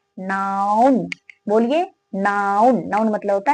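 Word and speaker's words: noun: इसे बहुत सारे ऐसे व्यक्ति होते हैं, इसे इस तरह से प्रोनाउंसिएशन करते हैं, नॉन। इसे बहुत सारे व्यक्ति किसे कहते हैं, नॉन, बट नॉन नहीं है, ये क्या है, नाउन।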